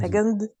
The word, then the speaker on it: second: second, Yes. yes, But the C is K, not G, but K.